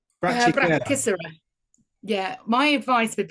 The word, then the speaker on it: Brachycera: And lower brachyera. Brachycera. Yeah, my advice with pronunciation is just do it really fast.